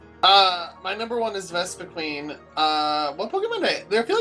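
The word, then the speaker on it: Vespiquen: Uh my number one is Vespa Queen. Uh one Pokemon I feel like there was a Pokemon I ended up liking the less. It's pronounced Vespen.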